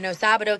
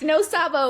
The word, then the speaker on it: no sabo: Like I'm a no sabado kid. You know, I've always been trying to find my identity in this. It's no Sabo. It's no no Sabo. I always say it wrong.